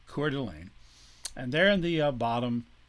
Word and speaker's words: Coeur d'Alene: Spokane tribe, and the Coeur d'Alene tribe, another French word, which actually would be pronounced in French Coeur d'Alene, but we'll say Coeur d'Alene.